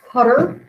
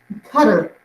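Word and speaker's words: Qatar: break this is pronounced cutter that's how you pronounce this town it's or not Town Country it's in the Middle East cutter is how it's pronounced at least with the American pronunciation I don't know about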